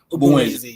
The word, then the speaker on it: Ogbunwezeh: Is it Ogbunwezeh? Ogbunwezeh, yeah. Yeah. I know I did try when it comes to pronouncing.